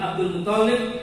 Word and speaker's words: Abdul Muttalib: Bacanya jangan dulu Pak. Toknya dua. Yang kasih itu di toknya.